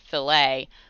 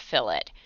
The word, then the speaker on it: fillet: said um he said normally you would pronounce it filet but when you're welding it's pronounced fill it and everybody thought that